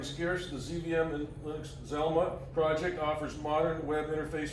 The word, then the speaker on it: ZLMA: ZLMA, pronounced Zelma, ZVM and Linux Modern Administration.